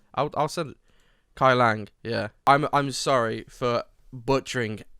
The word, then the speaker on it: Kuai Liang: So it looks like Kulang, but it's not. I'll send it. Kai Lang, yeah.